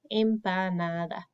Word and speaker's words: empanada: But in Spanish, it always just sounds like empanada.